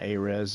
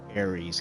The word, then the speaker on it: Ares: I mean, it's not Ares, guys. Like people call it Ares, but it's called. I heard the people who made it pronounce it. It's A-Res. You know, like when they were in the grid, Tron Legacy 2, when the programs would died, it was called D-Res.